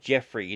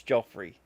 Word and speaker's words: Joffrey: So I thought the main asshole in that was called Jeffrey until the TV series come out. And it's Joffrey.